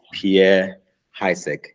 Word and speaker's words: Pierre Haessig: And his name is Pierre Haessig.